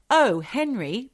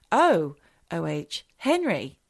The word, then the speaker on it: O. Henry: her boyfriend at the O. Henry Ballroom. I say it like that, Michelle, because it says O. Henry. It's not like O, Henry, like an Irish name. It's O-H, Henry.